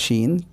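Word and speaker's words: شين: আর এই যে শিনটা রয়েছে, 3 নুক্তাওয়ালা শিন, 3টে ফোঁটাওয়ালা শিন, সেটি হচ্ছে মোটা করে উচ্চারণ করব, শিন।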